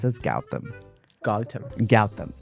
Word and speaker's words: Gowtham: So today on the show, we've got Gotham. I screwed up. Okay. Can I also quickly? I pronounce it as Gowtham. Gautam. Gowtham.